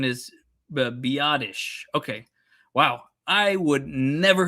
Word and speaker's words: Biadasz: Uh Oh, it's pronounced Okay, so the Carl the the correct pronunciation is the Biadasz.